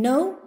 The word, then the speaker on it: know: In no, K is silent.